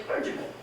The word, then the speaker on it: clergyman: I would not say that. I would say clergyman, and I would swallow those last 2 syllables.